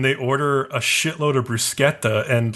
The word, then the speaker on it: bruschetta: They go to this nice ristorante and they order a shitload of bruschetta, and like Bruno actually pronounces bruschetta correctly, and I was like, damn.